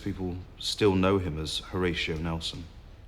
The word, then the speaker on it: Horatio: Lord Nelson all about why did his parents call him Horror Show I think they probably intended to pronounce Horatio but it just got mishmashed up and became horoscia you know I think that